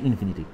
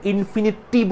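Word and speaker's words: infinity: ইনফিনিটি plus something মানে হচ্ছে ইনফিনিটি। শোনো, তোমরা অনেকে আসো ইনফিনিটিকে ইনফিনিটিভ উচ্চারণ করো, খবরদার ইনফিনিটিভ উচ্চারণ করবো না কিন্তু। এরা হচ্ছে ইনফিনিটি, ইনফিনিটি বাংলা হচ্ছে অসীম, ইনফিনিটিভ না।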